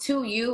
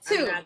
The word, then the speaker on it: Tou: me two so yeah everybody thinks it's pronounced two you or tau or i i was saying tau yeah okay i get it yeah it's two just simply i did